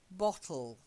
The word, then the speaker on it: bottle: The first word, bottle. Try and get that O sound, like odd, because otherwise it sounds too much like battle.